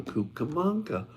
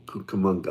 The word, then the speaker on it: Cucamonga: and the question was why Rancho camanga Rancho kukamonga I'm going to pronounce it correctly why because that particular